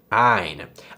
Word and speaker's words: ع: Okay, this is probably the toughest one, but have you ever heard someone say, aight, as in, how you doing? I'm aight. This is basically an exaggerated version of that aight, aight, ain.